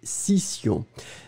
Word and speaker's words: scission: Ouais, c'était scission. Scission, nous sommes d'accord que vous l'écrivez S-C-I-S-S-I-O-N. Scission. Allez, on va faire les deux. Le premier, A, session, une session. Le deuxième, scission, une scission. Session, scission.